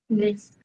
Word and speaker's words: les: Les. Les. Les, que é no plural, né? Não pronuncia o S, mas tem.